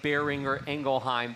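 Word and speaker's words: Boehringer Ingelheim: not necessarily be familiar with the family name bearing or engelheim tell us about the name and the family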